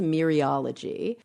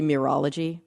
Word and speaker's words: mereology: word I think it's myriology oh it's interesting it's spelled m-e-r-e-o-l-o-g-y yeah where's the word mirror you would not pronounce the e but in here you